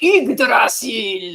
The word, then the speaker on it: Yggdrasil: No, It's pronounced Yggdrasil!